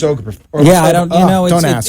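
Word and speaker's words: Obergefell: opinion on gay marriage, which, how do you pronounce that last name? Was it the Oberfeld? What, Obergfell. Right. Or I think it's Obergfell.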